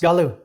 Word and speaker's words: Gollu: Is it pronounced Gollu? Gollu, yes. Gollu, got it.